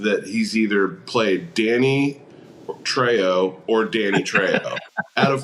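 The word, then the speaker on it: Trejo: his character's name is Treo in this okay I thought it was Tre okay no it's it's treyo it's spelled just like his last name so and I know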